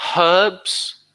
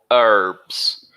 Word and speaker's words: herbs: These are herbs or herbs, depending on where you're from.